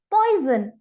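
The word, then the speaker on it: poison: अब हैरानी की बात यह है कि यहाँ पॉइजन की स्पेलिंग में मैंने कोई जेड नहीं लिखा, पर फिर भी मैंने इसे पॉइजन नहीं पढ़ा, मैंने इसे पढ़ा है पॉइजन। यानी जेड का साउंड आया है।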